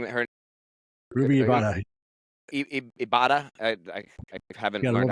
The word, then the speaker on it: Ibarra: Ibarra. I haven't learned how to say it. You gotta roll them R's, baby. Ibarra. Well, she's Filipino. I mean, I guess Filipinos kind of roll their arms.